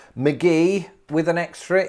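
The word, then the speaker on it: McGehee: it'd be so confusing let's have a listen mcgee arkansas it is judy mcgee from arkansas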